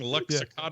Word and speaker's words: Luxottica: Luxottica?